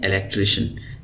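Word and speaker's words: electrician: हैं कि जो अंग्रेजी में शीन की आवाज देते हैं उसमें से एक सी आई ए भी है सी आई ए जहां पर आ जाता है तो वहां पर शीन की आवाज हम निकालते हैं तो यह हो जाता है इलेक ट्री इलेक्ट्री तो इसको हम पढ़ते हैं इलेक्ट्रिशियन इलेक्ट्रिशियन व शख्स होता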